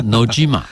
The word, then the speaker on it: 野島: 他说：“Nojima。” 我马上呢就可以知道那个 G 应该是浊音的发音啊。